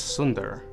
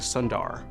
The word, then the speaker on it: Sundar: Because in Tamil, it's Sundar, but my dad, who's a doctor, none of his patients could say his name, so he changed it to Sundar.